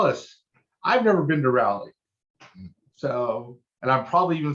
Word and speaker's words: Raleigh: problem so tell us i've never been to rally so and i'm probably even saying it wrong because that's usually what i do with cities i've never been to raleigh yes you got you have to the you're